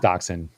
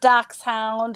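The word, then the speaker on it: Dachshund: that was that german yes uh daxen it's pronounced daxen daxen not da not not not doc Hound or doc shun doc you know weeny dog it's we dog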